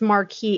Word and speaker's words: Marquee: the the hotel and it's marquee it's spelled not murky like the it's m-a-r-q-u-e-e but holy [ __